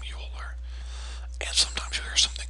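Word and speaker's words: Euler: man who discovered the number is called um Yol that's how you pronounce this last name yuler and sometimes you hear something called the yuler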